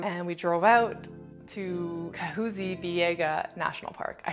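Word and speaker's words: Kahuzi-Biega: with the crew and we drove out to kahuzi biega national park i said it wrong in the video are you excited to see the gorillas i'm super pumped so we're here in kazubi biega national park and we're going to be going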